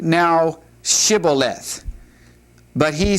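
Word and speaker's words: shibboleth: But he said, "Scaleth," for he could not pronounce it correctly. Now notice those two words. The first word uh is different only in that it has the sh sound, Shibuath.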